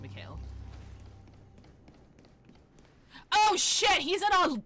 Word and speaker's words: Mikhail: Or Mikhail, sorry, they pronounce it Mikhail.